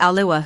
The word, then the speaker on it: Alua: I knew someone named Alua who always said it rhymes with Kalúa.